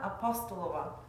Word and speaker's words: Apostolova: I've pronounced that right, haven't I? Oh, it's been entertaining hearing all the variations. It's Apostolova.